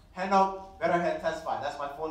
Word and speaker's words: Henok: Oh, if you guys didn't know, my name is pronounced Henok Betterhead Tesfai.